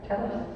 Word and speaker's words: Telos: The place called Telos, or how do they pronounce that here? Telos? Yeah, that's how we pronounce it too.